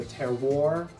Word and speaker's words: terroir: grape that's used, and help me with my pronunciation here, the terroir, Yeah, that's great.